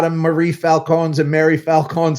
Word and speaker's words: Falcone: No, but they pronounce it Falcone. Yeah, that a lot of people pronounce it Falcone. The Italian way. The Italian way is Falcone.